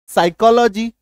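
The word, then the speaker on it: psychology: हो जाएगा यह देखो जैसे पी के बाद एस है बी एन एसटी साइकोलॉजी प का उच्चारण ही नहीं है गायब हो गया एसवाई सी ए साइकोलॉजी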